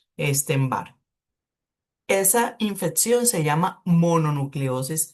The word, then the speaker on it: Epstein-Barr: Miren cómo se escribe para que después no digan que es como Einstein, Epstein-Barr.